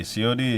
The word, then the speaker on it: Cionee: Josh of Sioni. Sioni is spelled CIONEE TV.